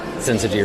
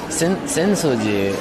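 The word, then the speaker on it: Sensō-ji: Sensoji and Asakusa, the neighborhood we're in, the two names are written using the same Chinese characters but pronounced differently. Senso being the Chinese pronunciation and Asakusa being the native Japanese.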